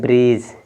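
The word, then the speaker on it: bridge: silent है इसको पढ़ेंगे ब्रीज क्या लिखा है डी साइलेंट रहेगा डी के बाद क्या है जी है तो डी साइलेंट ब्रीज ये क्या है देखिए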